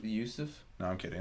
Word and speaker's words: Joseph: And his brother, it's not Joseph. What is it? It's Yusuf. Yusuf?